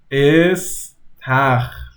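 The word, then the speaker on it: استخر: Istakh. Istakh. It sounds like an S. Istakh. Now I know a lot of people struggle with kh.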